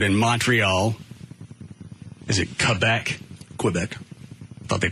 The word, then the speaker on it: Quebec: Quebec. Thought they pronounced it Quebec. What? Dan, it's it's Quebec if you're doing it with the French twist on it.